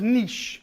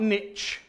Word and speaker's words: niche: Americans in the room it's pronounced niche like quiche not niche so she asked for